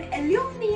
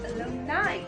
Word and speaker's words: alumni: बहुत सारे लोग इस वर्ड को alumni या alumni बोलते हैं, लेकिन alumni या alumni गलत उच्चारण है। The correct pronunciation is alumni.